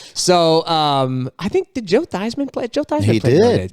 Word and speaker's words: Theismann: And then they asked his dad years later, how do you pronounce it, Theismann? He said, Theismann.